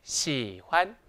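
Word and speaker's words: 喜欢: 있을까요 다같이 시환 시환이 시환이란 단어는 삼성 뒤에 경성이 오는 성조 규칙이 있어요 이때 주의하실 점은 뭐냐 봤더니 경성은 혼자 쓸 수 있다 없다 없다 그래서 끝나는 발음 즉 성조 뒤에다가 살짝 잡아주면 됩니다 그러면 삼성 뒤에 살짝 잡아주기 때문에 쭉 내려왔다 올라올 때 딱 잡아주면 예쁘겠죠 한번 해 볼까요 시환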